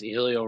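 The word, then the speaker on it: Hélio: Like he's past the By the way, I like how you said Helio because they keep saying Heliot, and I'm not down with that. No, it's Helio.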